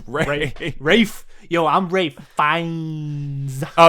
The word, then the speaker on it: Ralph: I keep calling him Ralph because it's fucking spelled Ralph and it's pronounced Ray. Rafe. Yo, I'm Ray Fiennes. Oh yeah, just the Fiennes. L and the P and the H are silent.